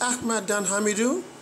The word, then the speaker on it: Ahmad Dan Hamidou: I'm probably mispronouncing that, but I think he's gonna pronounce his own name in his audio feedback. So here, let's take a listen. Hello, Jeff. This is Ahmad Dan Hamidou from Lagos, Nigeria. Ahmad Dan Hamidou. There we go.